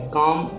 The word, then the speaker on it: calm: L silent है चॉक, CALM L silent है काम, PALM पाम, CALF में L साइलेंट है काफ हाफ।